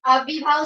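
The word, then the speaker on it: अव्ययीभाव: पहले तो आपको इनका उच्चारण आना चाहिए सभी को। अव्ययी, अव्यय होता है ना, अव्यय, उसमें ये पे बड़ी की बात है।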